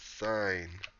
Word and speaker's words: sine: Sin sum. It's not sin sum. It's sine.